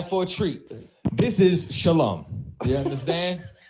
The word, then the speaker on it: shalom: Now, Carozza makes the assertion that the proper pronunciation for peace in Hebrew is shalom.